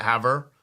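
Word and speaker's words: Havre: her is that just how you say it Haver okay so I have her Montana right and uh and and apparently they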